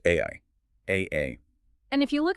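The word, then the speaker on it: 愛: The Japanese kanji character for love is pronounced ai, A-A.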